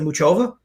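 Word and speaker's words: Muchová: know what's interesting too like a player like mohova in certain countries it's they still pronounce it muchova but in certain countries they they silent the the letters there and they call it just mohovah yeah and even if you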